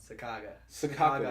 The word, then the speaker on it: Sacagawea: Sakaga is how you say bird, and Wea is how you say woman in Hidatsa. Sacagawea? Sakaga. But there's no G in it, is there?